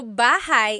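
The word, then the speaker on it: bahay: Shir said I always make a mistake with bah and so bahigh is house buhai is your life.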